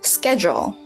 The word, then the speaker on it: schedule: Schedule. No, my dear. Not schedule, schedule. Schedule. Schedule. The schedule is nice and easy.